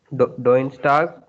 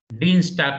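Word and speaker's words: Dienstag: uh Tuesday is uh do St M no no no no no no d Dean stock not D de stock mon is Sunday then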